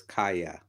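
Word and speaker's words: Kaja: You know that the J is pronounced with a Y, so it's Kaya. Kaya. Well, thank you, Kaya, so much for that, and for being here.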